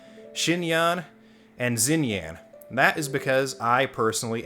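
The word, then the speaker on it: Xinyan: gentian impact content and murder birds pronounces her name zinyan while my two years of chinese that i took in high school says that it should be pronounced shin yan so while i do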